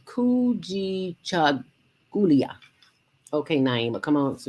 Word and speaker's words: Kujichagulia: Now, you know, I was here trying to pronounce the second day of Kwanzaa, the Kujichagulia. Yes. Kujichagulia. Kujichagulia.